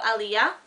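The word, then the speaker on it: Illéa: heart and they'll be the Crown Princess of Aliyah having that's how you pronounce it and for America singer she's not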